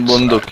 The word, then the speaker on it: Bunduk: How do you say your name? Is it Bunduk? man. Oh. Yeah. Bunduk, okay. Bunduk, yeah, like that.